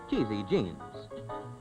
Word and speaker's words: Chez Jean: now the lodge keeper of Chez Jean, pronounced Cheesy Jeans.